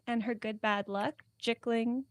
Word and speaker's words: Jickling: her good bad luck jiggling rhymes with pickling and tickling but you I guess